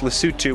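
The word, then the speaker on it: Lesotho: South Africa and also in a country called lutu which uh looks like it should be pronounced L though but it's lutu which is a tiny little country that's inside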